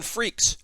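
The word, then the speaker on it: Freecss: uh we've got gone freaks from hunter hunter the x is silent and it's also not cross this is under honor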